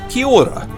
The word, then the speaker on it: kia ora: that's pronounced care it's it's almost you almost don't say the a key it's almost like Kia without the a at the end of it and then the next one is o r a aura and what that is is basically a greeting it's a generic greeting and you say it like this Kia Ora so it's almost like one word and a little little bit of a roll on the R so that's key order